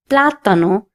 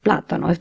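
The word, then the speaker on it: plátano: The next word is platano which means banana. This word also has an accent on the a. That means I have to stress on this letter and say platano instead of platano.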